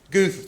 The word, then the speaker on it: Guth: It's Guth, just like Ruth.